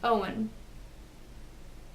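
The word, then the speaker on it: Eoin: spelled II oh I n which is apparently Owen that's pronounced Owen yeah thinkin now I know at the end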